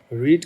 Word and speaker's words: read: इसी प्रकार रीड का मतलब होता है पढ़ो, टू रीड पढ़ना, रीड रेड रेड spelling same है।